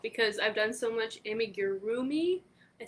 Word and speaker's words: amigurumi: turn i don't because i've done so much amigurumi i said it right amigurumi that you're not supposed to turn so i